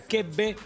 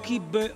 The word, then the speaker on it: Keppe: Es como se pronuncia, quepe o kipe o quepe o quepe.